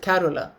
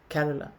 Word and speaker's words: Carola: I I pronounce it carola car it's like Carol in English and then a in the end carola so what is the